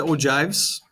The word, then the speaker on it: ogive: did not get to ogives yes it looks like a g or they use a g but they actually use when you pronounce it you're supposed to use it j so ogive and then talk about